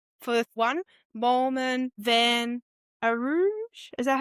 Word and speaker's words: Van Rooij: Yep, and then I would go for the fifth one, Moolman, Van Rooij. Is that how you say it? Van Rooij.